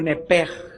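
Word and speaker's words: נפש: Por favor, escríbanla, en el hebreo es nepesh, o nepej, como se pronuncia. Se escribe nepesh.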